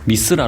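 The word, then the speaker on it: Mithra: 역사적인 배경이 있다고 합니다 미트 라는 용어로 미쓰라 로 발음 되는데요 그룹 에픽하이의 미쓰라 진 의 미쓰라 가 바로 고대 태양신을 뜻하는 영어식 발음 입니다 하지만 미트라 는 로마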